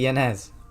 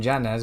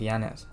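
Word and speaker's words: Jans: janz cuz it's actually yanz you guys call him janz but it's actually pronounced yanz the man with the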